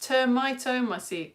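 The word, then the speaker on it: Termitomyces: It is pronounced termitomaces.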